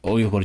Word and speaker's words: Uyghur: I like to say it Uyghur just because the English pronunciation is just a bit like, it's a bit far-fetched. Like, how the fuck did you get to Uyghur from this spelling?